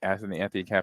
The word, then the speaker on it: Anthony Campanelli: Anthony Campanelli.